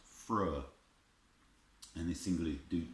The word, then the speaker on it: Freur: Now this was actually the band name to start with, but this is actually pronounced Freur.